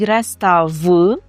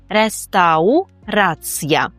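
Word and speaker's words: restauracja: - це те, що ми вимовляємо ау, рестау. Часто чую, що студенти кажуть рестав, але там нема звука в, там є у. рестаурая. І другий момент, на який прошу вас звернути увагу - це три останні букви ця. Маємо роздільну вимову: ця, ця, ця, тобто реставрація.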